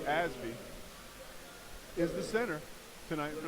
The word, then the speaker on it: Osby: got in the middle Romero Osby actually pronounced asby is the center tonight